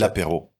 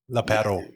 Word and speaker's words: L'Apéro: Dude, so if people want to find out more about, I'm not going to try and pronounce it. L'apéro. L'apéro.